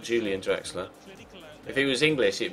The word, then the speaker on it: Julian Draxler: Yeah, it's German, Elliot, so it's Julian Draxler, not Julian Draxler. If he was English, it'd be Julian, but he's German, so it's Julian. It's pronounced with a Y.